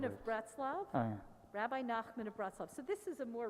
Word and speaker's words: Nachman of Bratslav: Rabbi Nachman of Bratslav.